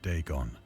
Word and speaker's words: Dagon: questions regarding the ancient Philistine Legend of Dagon the fish God okay that's how you say